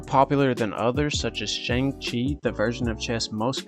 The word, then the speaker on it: Xiangqi: Xiangqi, let me make sure I'm pronouncing this right before y'all flame me in the comments. Xiangqi.